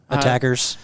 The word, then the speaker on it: ATACR: ATACR, people like to call them ACTARs. Tactical Rifle Scope. Yeah, I think we should get it once and for all from Nightforce themselves to pronounce it so that everyone can just stop the debate. You got to be careful. I know they like it ATACR.